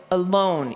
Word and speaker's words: alone: Like if you think of the word alone, so alone, you know that the second syllable is the one that's accented because your chin went down, alone. The doesn't say ah. We wouldn't read it alone. They would say alone, and that's a schwa, that because it got